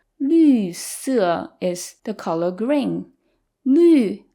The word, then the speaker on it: 绿: 绿 again is the U with the umlaut. So say it with me. 绿. 绿色.